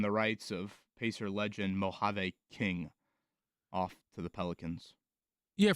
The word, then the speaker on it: Mojave King: Mojave King.